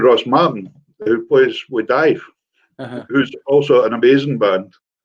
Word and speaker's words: Daimh: On my CD, like my most frequently played CDs, Dive, which is spelled not Dive as in Dive, and DAIMH, I think it is.